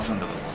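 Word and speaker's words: 純豆腐: ゥブって純豆腐と書いてスンドゥブって読むので、お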